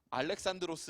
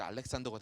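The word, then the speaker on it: Ἀλέξανδρος: 아는 그 알렉산더 뭐 헬라어 발음으로는 알렉산드로스 라고 말하는데요 영 영어 발음으로 미제 알렉산더가 되는 거죠 그래서 그 유명한 알렉산더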